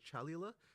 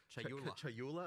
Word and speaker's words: Chayula: The acolyte of is it Chalula? Chayula. I always say this wrong.